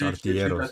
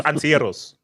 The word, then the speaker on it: Artilleros: No, it's Los Artilleros. Los Artilleros. Wait, is that Gunners in Spanish? Yes, Los Artilleros. What's that? Los Antilleros. Yeah. Los Antilleros. Okay, you butchered it already. No. Antilleros. Artilleros. Artilleros. Los Artilleros.